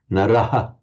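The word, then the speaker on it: नरः: A modern Indian pronouncing Sanskrit would say naraha, a man, kriyayaha, that shadow vowel, naraha, and a munihi, not munihi, but munihi, little shadow vowel. Query whether that shadow vowel existed in the very earliest times in the pronunciation of the Veda, because it puts in an extra syllable.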